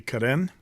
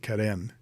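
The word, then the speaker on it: Carène: pen and of course I pronounce it Kaden uh it has um that aant gav over the e did I say that right axant gav um and so I think that's the pro proper pronunciation of Kaden says the guy with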